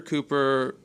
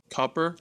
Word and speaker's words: Cooper: Uh, we found out this week that, uh, Governor Cooper, uh, back in Ashe County where he's from originally, his pronunciation of his last name is not Cooper, it's more like Copper.